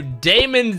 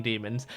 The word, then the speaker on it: Daemons: And I was like, oh, it's pronounced Daemons. And I've been spending the whole video saying Demons.